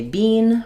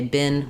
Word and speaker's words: been: i because of course in American English we don't say Bean for this word we say been with the LAX if sound what have you what